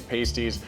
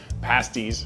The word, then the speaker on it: pasty: I don't know what you call it, but cousin Jenny's pasties pasties.